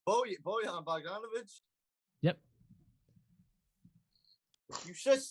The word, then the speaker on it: Bojan: It's Bojan.